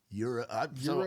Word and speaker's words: gyro: Euro. So I've heard people say I grew up saying gyros, but then I was corrected to say euros, but I still say gyros sometimes.